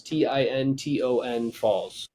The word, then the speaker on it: Tinton Falls: Spell that for me. Tinton Falls. T I N T O N Falls.